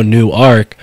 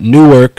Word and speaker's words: Newark: the town of Newark nobody really pronounces it the way it we are right now new arc but Newark New Jersey uh was